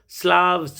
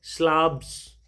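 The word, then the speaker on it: Slavs: इन सभी लोगों को जो इस रीजन में रहते हैं उन्हें बच्चों स्लाव्स कह करके बुलाया जाता है। अब से रिक्वेस्ट है कि इसे स्लेव ना पढ़ें, स्लाव्स पढ़ें, यही सही प्रोनाउंसिएशन है।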